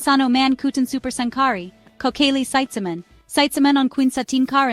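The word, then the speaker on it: seitsemän: saon sitan means seven it has three parts say sat like gate then whisper SE then say man like a superhero try it sitan seven is like the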